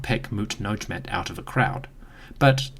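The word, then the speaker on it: Mutnedjmet: We know the queen had a sister, a lady named Mut-Nojmet, or the goddess Mut is sweet. The name could also be pronounced Mut-Beneret, it is unclear.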